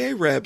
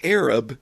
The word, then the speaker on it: Arab: be like, you know, this Ahab, the Arab song, it's actually pronounced Arab, and we probably shouldn't laugh at this one.